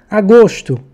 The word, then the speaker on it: agosto: Agosto, paroxítona, ó ali a sílaba tônica no gos, terminada em O, não deve vir acentuado.